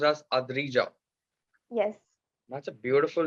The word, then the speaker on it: Adrija: Okay, and your name is pronounced as Adrija.